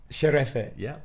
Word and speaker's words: şerefe: Sherefe. Yeah, perfect pronunciation.